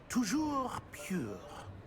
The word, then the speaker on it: Toujours pur: Toujours pure.